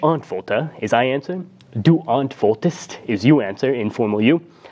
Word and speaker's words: antwortest: Then we have du antwortest with the st at the end, but with that e as something of a phonetic cushion, which allows us to pronounce the word more easily than if it was missing.